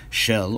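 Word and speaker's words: של: He probably didn't know it was there, but my point is that this construction, shel, or as he pronounces it, shal, where it stands alone by itself, doesn't exist in biblical Hebrew.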